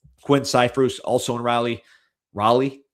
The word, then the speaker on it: Raleigh: Raleigh, how do you say it?